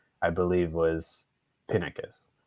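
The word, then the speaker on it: Pinakes: pronunciation i believe was pinnicus the emphasis on the the first syllable so but if you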